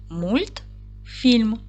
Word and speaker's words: мультфільм: поділимо слово на склади мультфільм наголос падає на другий склад м твердий приголосний уголосний